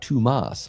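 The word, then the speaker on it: Tuomas: We as Americans would call him Thomas, but in Finland it's pronounced Tumas.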